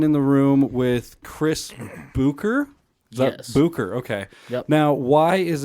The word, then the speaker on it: Bucher: one is B so traditionally my name would have had the I believe they called an uml it's three dots above the U so it makes a o okay and then CH and R um I